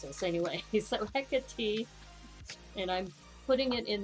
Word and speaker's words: Hecate: about how do you pronounce this anyway so hecka t and i'm putting it in the chat because i kept saying hecate but the pronunciation is hecate so hecate and we were joking around as like hecka